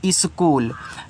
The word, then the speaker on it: school: SCHOOL देखो ए आपका लिखा है स्कूल, तो यहाँ पे यस से आप आधा सा करोगे, और CH यानी एच यहाँ पे साइलेंट होता है, सी को हम का के रूप में दिखाते हैं, डबल ओ से बड़ा ऊ, और यल से ला, ए आपका स्कूल हो गया, क्योंकि यह आपका इंग्लिश